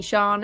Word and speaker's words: Sian: And Shan is spelt SIAN.